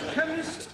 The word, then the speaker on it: chemist: spell chemist oh blame me k e n chemist does not begin with a k it sounds